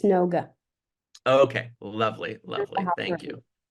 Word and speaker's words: Noga: hear you say your name in case I mispronounced it I want to make sure I got it right got it right it's noga okay lovely lovely thank you yeah how are